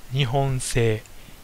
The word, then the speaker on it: 日本製: actual producer is in Japan number two is pronounced nion say it means made in Japan and whenever you